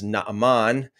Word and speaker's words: Naaman: We're going to be talking about Naaman, okay? More accurately pronounced as Naaman.